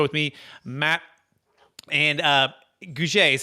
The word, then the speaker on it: Gouge: welcome the show with me matt and uh guje is how you pronounce it correct matt you nailed it nailed